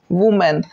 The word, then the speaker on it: women: तो WOMEN, singular होता है WOMAN, वुमेन, और इसको बोलते हैं वीमेन। ठीक है, इसको जो प्रोनाउंसिएशन करेंगे WOMEN का, उसको बोलेंगे वीमेन।